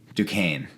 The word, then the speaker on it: Duquesne: I'm not exactly sure how to pronounce Duquesne, I believe. Duquesne. That's it.